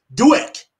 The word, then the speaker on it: Douek: i have a special guest i have rich dewitt did i pronounce it right you did all right today